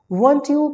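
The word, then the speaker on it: weren't: वंट यू cooking dinner eight 8:00 पी.m. वांट यू इसे वारंट नहीं पढ़ते हैं।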